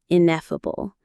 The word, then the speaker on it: ineffable: This quality is ineffable. Let's look at that beautiful word. Ineffable. Ineffable. The stress is on the second syllable.